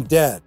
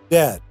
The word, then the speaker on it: dead: So this sound is much more open and it's also longer. It's a short A sound, dad. Compare that with dead. Close your mouth and it's much shorter. Dead, dead. Can you hear the difference?